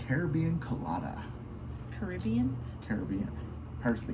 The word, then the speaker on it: Caribbean: Caribbean. Pirates of the Caribbean. Caribbean Colada. You guys decide how that's actually pronounced. Pirates of the Caribbean, not Pirates of the Caribbean. Caribbean. Caribbean Queen.